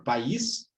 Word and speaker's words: país: Os irmãos percebam também que a palavra país é dividida em duas sílabas. País. Tá? Então, nós temos qual sílaba tônica aqui? O is. Tá? Então, é a última sílaba.